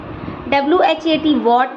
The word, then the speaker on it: what: Rule number 1 कहता है कि W के बाद आने वाला H हमेशा साइलेंट होता है। WHAT वॉट, where, WHERE, WHEN, WHICH कहे तो WH फैमिली के जो वर्ड्स हैं वहाँ पर H साइलेंट है।